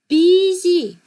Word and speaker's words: busy: 웃기죠? Busy. Busy. 분명히 우리가 봤을 땐 U, 알파벳 U로 돼 있는데 발음 기호는 전혀 다른 알파벳 I가 쓰이고 있어요. Busy.